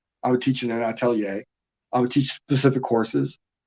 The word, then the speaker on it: atelier: It's ATELIER, atelier.